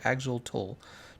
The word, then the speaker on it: Axolotl: The Minecraft update aquatic music, Shunji, Axol, how's it pronounced? Axolotl, and Dragonfish, C418 Clark, Borderlands 2 Ice.